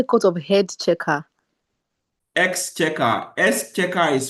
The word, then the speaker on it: Exchequer: Exchequer. Exchequer is spelled EXCHEQUAR.